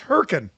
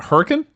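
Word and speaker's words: Hurricane: you putting an eye in there for it's hurrian it's not Hurrican it's herrien in southern Utah yeah her get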